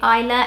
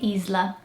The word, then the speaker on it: Isla: In British English you say Isla, in Portuguese you'd probably say Isla.